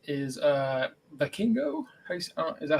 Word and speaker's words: Vikingo: The one that you were just trying to pronounce again? Vikingo, he's a AAA mega champion.